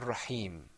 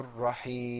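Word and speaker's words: الرحيم: a rough man you Raheem a rough man you Raheem rahim now notice that we pronounce we elongated the ya in rahim because there was that temporary sakoon now that sukoon there's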